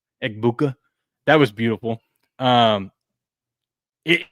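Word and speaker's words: Egbuka: that that shot to uh that shot to Ibuka. Is that how you say his name? Buuka Eggbuka that was beautiful.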